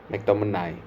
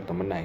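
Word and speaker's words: McTominay: dari kali inialurun kan Scott mcomany mcomeni bacanya mcomenai sih itu dia super sa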